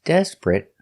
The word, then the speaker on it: desperate: Two syllables. The stress is on the first syllable. Desperate. Not three syllables. Desperate, but two syllables. Desperate. And the t at the end is a stop t.